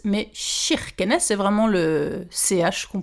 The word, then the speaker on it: Kirkenes: prononciation k i se prononce chi et pas qui on ne dit pas kirkenesses mais chirkenes c'est vraiment le ch